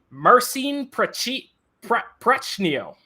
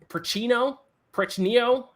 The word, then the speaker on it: Marcin Prechnio: It's Prechnio. He's Polish.